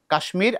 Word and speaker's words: কাশ্মীর: কিন্তু কাশ্মীর যেটা বলেছ কাশ্মীর এখানে ম উচ্চারণ হবে আলাদা করে কাশ্মীর আগে ভেঙেই লিখতো এরপরে যুক্ত হয়েছে ম হবে।